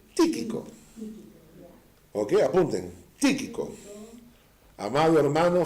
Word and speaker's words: Tíquico: No, con acento en la primera I. Tíquico.